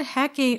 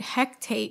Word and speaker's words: Hecate: it's it's gaelic right for the longest time i said hecate hectate even though there's no t there you're right there's nothing